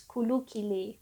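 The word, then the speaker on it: ke hulu ke hilir: Kehulu kehile. And the way I pronounced it just now is kulu kile.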